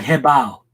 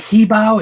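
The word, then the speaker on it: Hebow: so that people know the pronunciation for he bow is h-e-b Oh W so it's like hey bow like it's not he bow its head like hey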